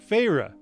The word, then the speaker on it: Feyre: I did look up how to pronounce it. Feyre.